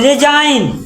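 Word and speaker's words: resign: यहां का पढ़ भी रिजाइन रिजाइन ये में जी साइलेंट रहे आर ई एस आई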